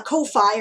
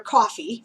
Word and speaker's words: Ko-fi: A Ko-Fi or coffee, for those of you who, pronounce it either way, right?